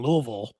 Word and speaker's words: Louisville: least in Kentucky in Louisville, which I learned to say right too. You have to say it like you got food in your mouth.